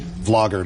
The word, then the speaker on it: vlogger: the best vlogger recently vlogger not blogger vlogger video blogger Brent Rivera who I